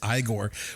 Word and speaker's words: Igor: I also like the pronunciation then of Igor. It's not Igor. It's not Igor. It's Igor, which really works into Marty Feldman because he's got those crazy eyes, right?